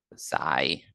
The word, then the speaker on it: xi: This is the Greek letter xi, pronounced xi. That's how we pronounce it in English.